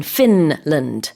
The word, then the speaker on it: Finland: So in English, you have to pronounce the N in Finland.